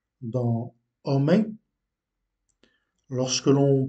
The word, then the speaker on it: homem: exemple le H dans homem. Lorsque l'on prononce le mot homem, homme, en portugais, le H ne se prononce pas.